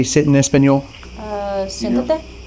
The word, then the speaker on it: Siéntate: Siéntate. Sete?